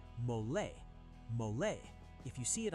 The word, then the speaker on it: mole: And it's not pronounced mole. It's two syllables. Say mole.